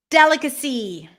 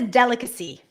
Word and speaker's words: delicacy: vegetable delicacy or delicacy delicacy or delicacy which one is it delicacy it's a delicacy good now to wrap